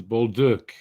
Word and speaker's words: Bolduc: It's Bolduc. So Mike Johnson and Murdrick, you better learn how to pronounce that name.